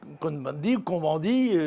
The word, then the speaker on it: Cohn-Bendit: M. Cohn-Bendit, puisque nous sommes en France, on le prononce à la française, eh bien lui, dans